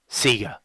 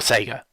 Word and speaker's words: Sega: favorite video game companies Sega or Sega how you pronounce it seems to depend on where you grew up I understand that Sega is correct however in Australia even their own promo material seemed to say Sega for a very long time